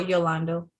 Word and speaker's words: Yolando: Is it Orlando or Yolando? Yolando, you said it right.